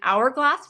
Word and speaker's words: hourglass: for the sea an hourglass for H kind of you think H is always that sound but that's a silent h on that one uh octopus jellyfish a